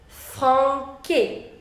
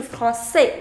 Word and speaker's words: français: Right now it is franqué. I want to change from franqué to français, which means French.